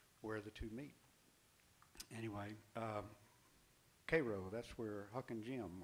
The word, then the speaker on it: Cairo: It's called Cairo Waltz, spelled like Cairo, Egypt, but it's pronounced, I swear, Cairo, like the syrup.